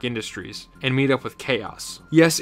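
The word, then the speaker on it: Kaos: and meet up with chaos yes it's indeed spelled Ka a o but I pronounce it as chaos as in disorder or or the water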